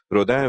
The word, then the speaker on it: Rodin: therefore you know if someone says Rodin instead of Roda which I'm sure I